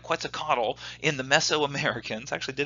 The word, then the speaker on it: Quetzalcoatl: Think about the Epic of Gilgamesh, all these amazing people that were able to, and I can never say his name right, Quetzalcoatl in the Mesoamericans, actually did it right that time.